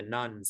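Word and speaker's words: nones: the rise of the nuns as well that's spelled n-o-n-e-s not n-u-n-s these nuns are people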